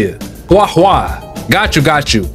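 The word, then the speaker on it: Guoba: see the moth that's how you say it guwa got you got you you also I can't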